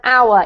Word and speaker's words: hour: okay how our an hour yep it doesn't have an H in it the sound of an H so it's pronounced exactly the same as that our okay oh okay how